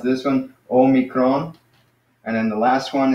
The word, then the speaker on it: Omicron: so Oh me Kron so that's like small oh but now this one